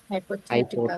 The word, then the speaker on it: hypothetical: Hypothetical. hypothetical, হাইপোথেটিক্যাল, স্ট্রেসটা হচ্ছে হাইপোথেটিক্যাল মানে কি?